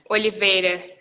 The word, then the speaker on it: Oliveira: It's quite a long sound, isn't it? It's like a double E.